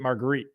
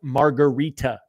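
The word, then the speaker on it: margherita: I pronounced it marguerite up top, like mozzarella, marguerite pizza. Down here, it's margarita pizza.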